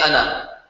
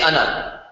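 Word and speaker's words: أنا: Notice the word ana is spelled with the alif. See that? But when you pronounce it as if it did not have an alif. So you do not say ana. It's written like that, right? But you pronounce it as if there was no alif there.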